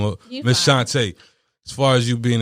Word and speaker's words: Shanta: fast now you miss shanta did i say it right it's shantae excuse me i don't want to mess your name up ms shantay as far as you